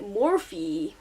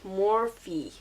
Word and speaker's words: Morphe: video that I filmed I actually say it morph in it gives me anxiety they actually said it wrong so today I'm saying it right morphe morphe so I'm taking